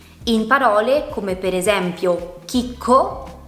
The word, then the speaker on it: chicco: In parole come per esempio chicco o chela. Come potete vedere, in queste parole abbiamo la C seguita dalla lettera H, che è muta, non si pronuncia e non ha un suo suono, e a sua volta